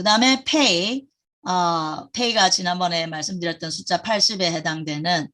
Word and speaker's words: פ: 이게 페이인데 안에 점이 있을 때는 P 발음이고요. 안에 점이 없고 그냥 페이일 때는 그러니까 알레프 지금 요 밑에 알레프가 나오는데 알레프 할 때 끝에 점이 없이 나오니까 끝에 나올 경우는 보통 F 사운드예요.